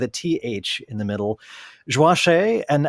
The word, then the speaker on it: Joachim: It's close. It's super close. It's Joachim. Joachim. Uh-huh. And the Joachim with the nasal French Haitian Yes. Creole sound. Yes. Joachim. Joachim. Perfect. Joachim.